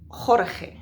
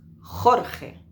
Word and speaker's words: Jorge: unanimity to say that one of the most difficult words to pronounce for example English speakers in Spanish is the name Jorge because Jorge has those two sounds so what we have